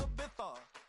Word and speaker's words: Ibiza: Ibiza Ibiza yeah it's pronounced Ibiza actually.